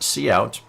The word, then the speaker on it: cout: Well, it's pronounced cout, and that stands for console out, because when